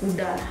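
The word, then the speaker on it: куда: But tapi yang bedanya kalau dalam bahasa Rusia itu cara kita pronounce itu kayak tebal gitu dia, kuda. How to say? Kuda. Kuda, right? It's like thick. Yeah. The way you pronounce the D.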